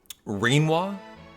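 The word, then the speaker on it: Rinoa: You maintain that her name rhymes with quinoa mean quinoa. Sorry. Reinoa.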